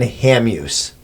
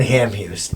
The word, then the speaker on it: Hamhuis: the Predators named Dan Hamhuis. Okay. Dan Hamhuis. Hamhuis. Hamhuis. That's how we pronounce it in this country.